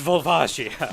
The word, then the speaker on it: Volvagia: him oh yeah the Japanese if pronounced directly is bajia bajia it's it's it's volvagia yeah it's volvagia yeah it's just 100% it's vol watcha look